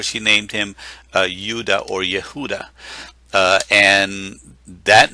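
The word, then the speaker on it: יהודה: uh but but the the name judah is yehuda this is the way that you would pronounce it so it is the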